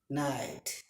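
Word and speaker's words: knight: তারপরে খে I know, খে এন আই টি ই নাইট, খে এন আই টি ই নাইট, খে উজ্জ্বল।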